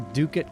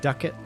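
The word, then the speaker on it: ducat: that's y I like the duket currency pronounced like bucket or Ducket sounds hilarious but it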